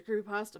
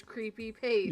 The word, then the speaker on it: creepypasta: really and i didn't know it was a creepypasta back then again actually my husband hates the